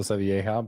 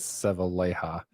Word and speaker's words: Sevilleja: I always want to say it like a Spanish last name with Okay. double L, so Sevilleja, but I think he says Sevilleja.